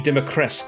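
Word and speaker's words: Dimitrescu: that's lady d lady democrack i believe is how you pronounce it what can he say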